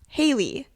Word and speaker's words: Haley: name should be pronounced, because everyone in our life says that Haley's name should be pronounced Haley. Where like there's more emphasis on hey is like the first part of the word, and in me and Ciera it's like it's literally spelled Hale-E. Like so we'll do hail as the first syllable instead of hey.